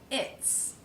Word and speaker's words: its: This will become he's, she's, its. Notice that the S in its is pronounced as an S sound, unvoiced.